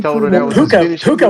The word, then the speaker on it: Puka: How do you pronounce his first name? P U A Puka.